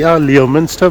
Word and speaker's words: Leominster: It's spelled Leominster, Leominster, but it's called Leominster. That's what the locals call it, and that's how it should be called.